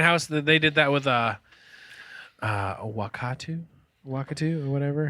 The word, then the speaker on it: Wakatu: They did that with Wakatu or whatever. How are you guys? How would you pronounce that, John? I would say Wakatu, yeah.